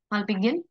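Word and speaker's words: Malpighian: बताइए मान बडी और मान बॉडी ववर य प्रोनाउंस ठीक है माल पियन बॉडी अब जब हम माल पियन बॉडी की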